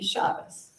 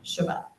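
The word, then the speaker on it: Shabbos: to grow up with so that would be shabas rather than shabat it would be y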